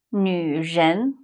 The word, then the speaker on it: 女: 女人 Many people have problem pronounce 女Try to round your mouth and make it as small as you can.